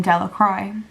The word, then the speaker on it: Delacroix: Bobby and Harry Jones and Dickie Delacroix, the villagers pronounced his name Delacroix, eventually made a pile